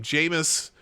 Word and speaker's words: Jameis: Jameson, or Jameis, however you say his name, Jameis.